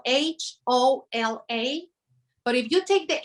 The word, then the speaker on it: hola: from the ocean yes the age is silent in spanish so it doesn't have any sound and you know it's